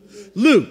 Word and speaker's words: Luke: His name rhymes with puke. Luke, very good.